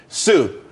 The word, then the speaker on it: TSU: there's more money and everyone could be happy Sue TSU it's pronounced Su though that's that's a website.